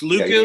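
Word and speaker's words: lekku: How's it pronounced, AJ? Luku? Her hair, essentially. Yeah. It's Luku.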